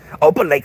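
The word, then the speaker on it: Opelika: Opa Lake, Alabama.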